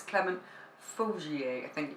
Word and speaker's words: Faugier: I can't remember the name, hang on, it's Clement Faugier, I think you pronounce it, F-A-U-G-I-E-R anyway.